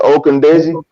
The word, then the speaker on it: Ogundeji: That's how you pronounce it, Ogundeji. Yeah, Ogundeji.